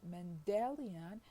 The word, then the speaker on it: Mendelian: the first i mean the stress in mendel is on the first syllable while in mendelian it is on the second as you see so